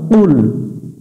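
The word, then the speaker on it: قُلْ: এটা একটু গলার ভিতর থেকে, জিহ্বার গোড়া থেকে একটু মোটা করে নিতে হবে। কুল, এটা কুল পড়া যাবে না। কুল পড়লে অর্থের পরিবর্তন চলে আসবে। কুল শব্দের অর্থ বলো, আর কুল মানে হচ্ছে খাও। একটা অক্ষর উলটপালট করে উচ্চারণ করলে অর্থের পরিবর্তন চলে আসে। আর যদি এইভাবে আমরা নামাজের মধ্যে পড়ে থাকি তাহলে আমাদের নামাজটা বাতিল হয়ে যাবে। তাহলে এখানে আমরা কুল পড়ব না, কুল।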